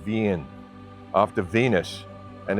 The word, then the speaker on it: Wien: People there still pronounce the name of their city as Wien, after Venus and its etheric music and architecture.